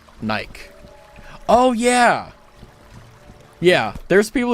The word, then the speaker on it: Nike: It bothers me when YouTubers pronounce Nike like the word bike. Bikey. Bike. Nike.